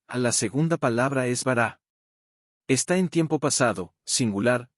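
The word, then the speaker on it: בָּרָא: A la segunda palabra es bará. Está en tiempo pasado, singular, masculino, y viene del verbo raíz para crear. El angulito a la izquierda de la segunda vocal es un acento en la última sílaba, lo que solo se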